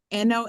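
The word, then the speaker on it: non: here so okay n n o n is still pronounced no okay one of these no no you feel it go up in your nose when you do that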